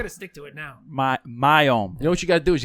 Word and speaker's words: MIOYM: WIOM, right? MIOYM. MIOYM. MIOYM. He keeps saying the Y. Yeah. He keeps You saying can like go for Wyoming. it. You gotta stick to it now. MIOYM.